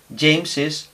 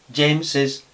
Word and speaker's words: James's: Y las dos formas serían válidas y las dos se pronunciarían James's house. James's house.